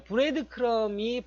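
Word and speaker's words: breadcrumb: 라고 해서 이런 것들을 우리가 뭐라고 하냐면 브레드 크럼이라고 해요. B는 묵음이죠. 브레드 크럼. 자, 브레드 크럼이 빵 부스러기라는 뜻이에요.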